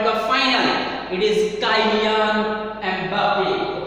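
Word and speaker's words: Mbappé: It is Kylian Mbappe. Okay, Mbappe is the thing and becomes silent.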